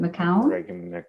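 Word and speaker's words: McKeown: essentialism by mr greg i think he said pronounces it mccown yeah it's like meow yeah yeah um the the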